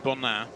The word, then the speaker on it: Bonin: Well, my French is not fantastic, Phil, but I'm pretty sure you pronounce it Bona.